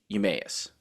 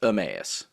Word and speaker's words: Emmaus: guys say it, but I say Emmaus. I've always said it like that. I know that's not how it's actually pronounced, but that's the way I've always been saying it because I'm pretty sure somebody said it to me like that. I'm like, okay, but I know it's Emmaus.